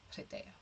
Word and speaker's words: Hridaya: The last half is Daya, and the first half is like a short little Hridaya.